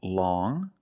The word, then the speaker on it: long: First, we see long with the sound which is a nasal sound. Long.